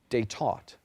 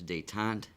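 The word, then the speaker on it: détente: from a Latin word are there any alternate pronunciations yes there are there is one day taau they day there's dayon and dayon dayon is the second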